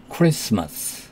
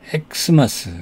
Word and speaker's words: Christmas: 크리스마스에서 이 T는 묵음입니다. silent. 크리스마스. Jesus Christ 할 때 이렇게 쓰고요. 또 크리스마스를 X하고 마스 이렇게 표시하기도 합니다. 그렇다고 해서 우리가 읽을 때 엑스마스 이렇게 읽으면 안 되고 크리스마스 이렇게 읽어야 됩니다.